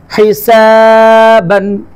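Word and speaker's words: حسابا: তারপর দেখো হিসাবান, হা হা হার উচ্চারণ হয় না তোমাদের অনেকের, হা হলকের মধ্যখান হা।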